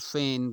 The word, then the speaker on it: fain: And feign, another word pronouncing the same homophone and the spelling different.